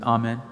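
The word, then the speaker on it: Amen: তারা বলে থাকেন আমিন যদি লক্ষ্য করেন কিভাবে ভ্যাটিক্যানে উচ্চারণটা করা হয় সবসময় বলা হয় আপনি এন ছেটে দিন আর বলুন আমিন যদি এটাকে বুঝতে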